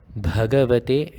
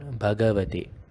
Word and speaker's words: Bhagavate: So you should be pronouncing it as Bhagavate and not Bhagavate. the bha should be made obvious.